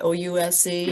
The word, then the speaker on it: Ouse: O-U-S-E?